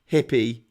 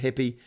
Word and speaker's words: Jeep: company Jeep they pronounce hippie uh they pronounce it hippie like the community yeah well you know